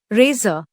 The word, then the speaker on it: Rasa: Rasa, pronounced as Razor, is a lunar.